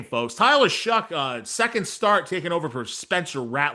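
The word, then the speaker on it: Tyler Shough: Tyler Shuck, that is how you pronounce his name, folks. Tyler Shuck, uh, second start taking over for Spencer Rattler for the Saints.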